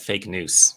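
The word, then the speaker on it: Fake Noûs: I have a blog on Substack called Fake News, which is spelled FAKENOUS. Right, similar to fake news, but it's with news.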